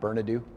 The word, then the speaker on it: Bernadou: an individual named Andrew, is it Bernadou? Gary? How do you pronounce the last name? On Bernadou? There it is.